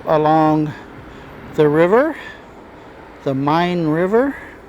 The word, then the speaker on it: Main: river the mine River when I first saw the name of the river which is spelled m a i n I thought it was the main river but everybody calls it the mine River like mine there's an RV park